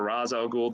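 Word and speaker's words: Ra's al Ghul: you have a character you've named either Ray Charles or Raz al Ghul depending on how you want to pronounce it and depending on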